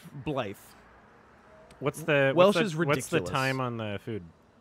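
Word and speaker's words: Blaidd: But it's pronounced Blythe. Blythe.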